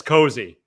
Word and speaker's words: Cosey: the prospect's licks uh is it cozy or causey yeah it's cozy okay that's gonna be a long o like we're comfortable and so miguel amaya is number 16 and matt mervis is number 21.